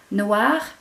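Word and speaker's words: noire: e on the end feminine does it has that e but it doesn't change the pronunciation Noir masculine feminine the E doesn't change the sound if you look at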